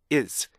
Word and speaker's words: is: z 발음이 약화돼서 s 발음처럼 들리는데 이거는요 s 발음하고는 달라요. 여기 s 발음이 오면요 it's 앞에가 더 짧아지고요. z 발음이 s 발음처럼 들리잖아요. 그러면 is 이렇게 발음이 돼야 돼요.